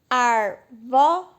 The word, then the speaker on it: árvore: Tá vendo que se eu pegar a palavra árvore e dividir, arvore, tem 3 sílabas, não é? Arvore. Só que a mais forte é o ar.